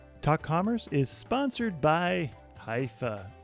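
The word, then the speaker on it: Hyvä: Commerce is sponsored by hia or as the Europeans say Hua or the right way to say it hufa is rapidly becoming the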